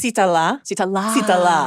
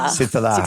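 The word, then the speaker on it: Sritala: And it's Sitala. Sitala.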